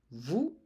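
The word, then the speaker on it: vous: Uh please remember to is informal, vu is formal.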